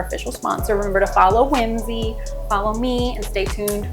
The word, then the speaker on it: Whimzi: I think it's like Whimsy music but it's spelled wh I mzi music Tik Tock is just